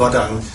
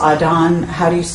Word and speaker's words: Aden: the Gulf of Aden, are you saying it's Aden? Do you know how to pronounce it actually? I believe it's Aden, Okay. but I could be saying it wrong.